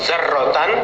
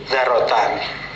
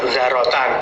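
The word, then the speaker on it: ذرةً: Jadi bukan zarrotan tapi dzarrotan. Maknanya biji-bijian, ya. Ma, apa-apa, yazinu, yang membandingi apa-ma, dzarrotan, pada biji-bijian. Mukhaffafatan, dengan dibaca ringan, di membacanya tidak ada tasdid, ya, dibaca dengan ringan, zarotan, bukan zarrotan.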